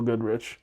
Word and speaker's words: Godrich: they we're going to work with now, um Godrich. Is that how you pronounce it? Nigel Godrich.